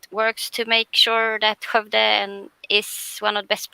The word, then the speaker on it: Skövde: I'm located in Skövde, which is apparently quite hard to pronounce for non-Swedes. Marten can do it. Skövde. Skövde.